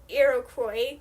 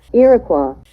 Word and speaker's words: Iroquois: that make up the Iroquois Confederation, sorry, I definitely mispronounced that, Iroquois, who have reservations in